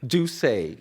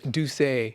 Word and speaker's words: Doucet: exactly gotcha um Yusuf how do you say your last name do say do say yes do say French right right family from